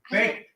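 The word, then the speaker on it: BAKKT: Backed Theater, B-A-K-K-T. I hope that's how it's pronounced. Is that Planet Hollywood. yeah? Yeah. Is that, did I pronounce right? B-A-K-K-T. Backed. Baked.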